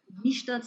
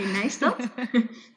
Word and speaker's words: Nijstad: You pronounced it quite nicely, although Niestad sounds more German than Dutch. I would say Nijstad.